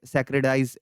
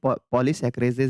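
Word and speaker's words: polysaccharases: तो उसको मैंने सैक्रेडाइज इस तरीके से मैंने कुछ कह दिया था, तो उसको आप प्रोनाउंसिएशन सही कर सकते हैं, पॉलीसैकरेजेस है, ठीक है।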